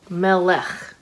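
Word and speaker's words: מלך: So in English, it's pronounced kind of like this. We see the consonants are the main ones. Melech, melech, king.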